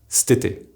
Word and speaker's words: cet été: For example, cet hiver will be pronounced stiver, and cet été will be pronounced stété.